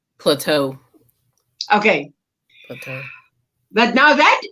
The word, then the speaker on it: Plato: Plato. How would you pronounce that? Plateau.